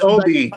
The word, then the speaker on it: Obi: It's Obi. It's Obi. My name is Obi.